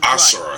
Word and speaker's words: Asura: Both of these giant, powerful brutes are definitely How the hell did he pronounce that dude's name? His name is Asura.